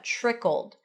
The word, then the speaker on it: trickled: So the tr at the beginning or pronounced as a ch trickled trickled trickled and then trickled on down into some tragic.